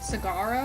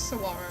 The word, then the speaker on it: saguaro: Sagaro, I think is how you pronounce it. I think he just yells at me. It's saguaro, like saguaro.